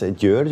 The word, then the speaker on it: György: It's a Hungarian name. It's György. We pronounce it György.